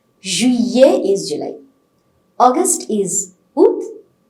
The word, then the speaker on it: juillet: Then July is pronounced as Juillet. Juillet. We're not pronouncing double L. Whenever you have a combination of the letters I-L-L-E, you get a pronunciation of year in French. So we are not pronouncing L at all in July, though you have the letter there.